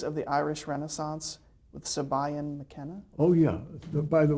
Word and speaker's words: Siobhan: How about Plays of the Irish Renaissance with Sabayan McKenna? Oh, yeah. By the way, I had to learn that in Ireland, that spelling, Siobhan, is pronounced Siobhan.